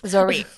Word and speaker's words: Zoryve: opinion leader on the matter here, but the pronunciation 99% I think it's Zoriv. Zoriv. Okay. So, that's that was one thing that's what we're going with. Dr. says Zoriv, so it's Zorie.